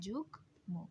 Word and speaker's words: যুগ্ম: সাথে ম ফলা থাকলে ম উচ্চারিত হবে, তাই উচ্চারণটা হচ্ছে যুগ্ম, অন্তস্থ জয়ের উচ্চারণ হবে বর্গীয় জয়ের মতো করে।